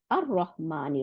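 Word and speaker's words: الرحمن: কেন সাদ্দা দিছে আসতে, ওই যে লাম, লামটা গিয়ে রকে ডবল করে ফেলাইছে, তাই না?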